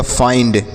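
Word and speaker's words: find: के बाद एन डी है तो आई का उच्चारण तो हो गया फाई और एन से आधा और डी से ड लिखा गया फाइंड क्या लिखा गया है फाइंड बी से पढ़ेंगे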